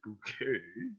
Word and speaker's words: Bucket: So my name is Bucket. I pronounce it bouquet.